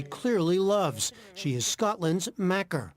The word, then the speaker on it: Makar: She is Scotland's Makar. Rhymes with lacker, she told me.